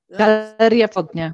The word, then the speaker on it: Galeria Wschodnia: So we, Marta, can you pronounce Adam's gallery? It's Adam's gallery in Lodge. Galeria Wschodnia.